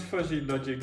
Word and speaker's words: fuzzy logic: i pronounce that before don't pronounce fuzzy logic as fusey logic it's not a yeah